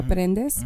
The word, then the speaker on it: Prendes: Sounds like a Z, Prendes, but in Spanish it's Prendes. But so yeah, it's Prendes with an S.